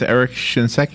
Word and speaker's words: Eric Shinseki: Okay, and his name is Eric Shinseki. Is that how you say his name? That's correct.